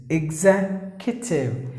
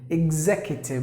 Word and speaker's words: executive: it's here executive executive here the letter e is silent and the letter and the letter C gives the K sound so and then the u gives the e sound like this executive executive meaning high position any